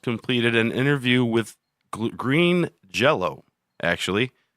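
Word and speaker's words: Jellÿ: change their name because jello was a copyrighted name yes it's spelled jelly green jelly it's spelled jelly but pronounced jell-o okay right speech so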